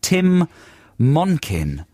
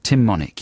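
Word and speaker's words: Tim Monich: about this guy called tim monkin monic no tim monic i said that totally wrong tim monik yeah rhymes with gin and tonic and he is hollywood's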